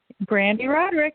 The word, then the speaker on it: Brande Roderick: and our guest today I hope I pronounced your name correctly is Brandy brck is that correct Brandy rodick yep that's it hi guys okay good you